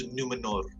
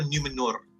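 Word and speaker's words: Númenor: First part adalah for some reason, aku tak tahu kenapa, aku suka cara dia orang pronounce NUMENOR. Macam nipis je, macam best. Okay. Dia roll R.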